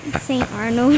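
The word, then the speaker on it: Saint Arnold: Rhymes with Ain't Barnold. St. Arnold.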